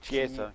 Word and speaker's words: Chiesa: How do you pronounce this other guy's name? Chiesa.